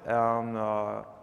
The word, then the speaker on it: Aodh: before, like the Scalability API, are now deprecated. There's a lot of things that have been split into the two other projects here, AODH, which is pronounced A, like the letter A.